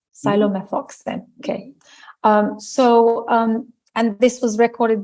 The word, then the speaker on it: Psilomethoxin: How would you pronounce it? It is Psilomethoxin. Right. Psilomethoxin.